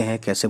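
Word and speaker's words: حق: इसकी आवाज़ हलक से होती है जैसे हक है ना, राइट्स का मतलब होता है हक, अधिकार। तो हक हक जो है इसी बड़ी हे से जो है बोला जाता है।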